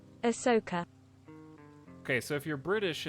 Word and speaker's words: Ahsoka: gotta go rescue Leviosa you're saying it wrong Asoka how do you say it Asuka I how am I supposed to say it ask Google how do to say Ahsoka Ahsoka Ahsoka all right thanks now